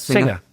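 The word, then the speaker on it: Singha: Singer.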